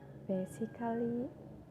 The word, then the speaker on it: basically: So I'm not pronouncing basically, romantically, musically, just pretending that the A wasn't there.